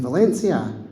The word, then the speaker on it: Valencia: because Barcelona were playing Valencia. And she says, "It's Barcelona, Valencia," because in Spain you pronounce the C's as a TH.